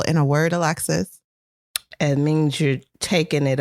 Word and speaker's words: Alexis: embarrassed this is perfect because if the emphasis was on the first syllable your name would be alex's but your name is alexis okay it is alexis